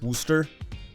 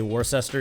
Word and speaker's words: Worcester: say that as worcester wooster i don't think you actually say warcester even though it looks like it looks like it's pronounced warcester this is a six